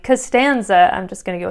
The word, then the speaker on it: Costanza: 2 syllables, something like Costanza. I'm just going to go with a Seinfeld theme here. And that has 3 syllables, right? Costanza. And the second syllable is the one that has the natural accent.